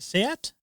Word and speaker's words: SEAT: should get this one skoda seat is it seat that's how you say it yeah um audi